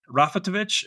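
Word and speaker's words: Raffalovich: I want to talk about Marie Rafatovich. Am I pronouncing this correct? Rafelovich. Yes. It's a Russian name, so we can I don't speak Russian so you know.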